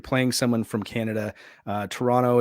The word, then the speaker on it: Toronto: someone from Canada uh Toronto is only pronounced of one t not two T's and also you're not